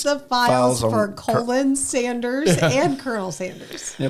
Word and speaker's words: Colonel: The R is silent and I it's said invisible. Colin Sanders.